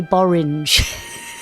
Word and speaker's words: borange: skating shoes and he christened it a borange. Rhymes with orange.